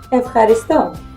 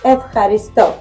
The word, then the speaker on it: Ευχαριστώ: Ευχαριστώ. Efcharisto? Ευχαριστώ. Efcharisto.